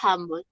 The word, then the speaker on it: humble: Acuérdense que la H suena como una J, ¿sí? Como piensen en Milhouse, en el amiguito de Bart. Si nosotros pronunciáramos Milhouse como pronunciamos la H en el español, no diríamos Milhouse, sino diríamos Milhouse, ¿sí? Entonces, pila, ¿sí? O sea, la H tiene sonido de J.